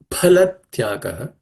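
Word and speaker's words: फलत्यागः: There are some people who pronounce it as fa. It's a foreign influence in my view. Some people say phalatyagaha. So the sound fa is foreign to Sanskrit, the way I understand. So phalatyagaha. Phalatyagaha.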